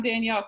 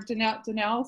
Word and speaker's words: Danelle: I think we should leave it on Danielle because that, or Danelle, sorry, I said your name wrong, because your cat was so adorable.